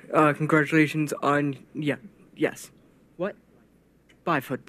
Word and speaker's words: Byford: Buford. Congratulations on, yes. What? Byford, sorry. Not Buford.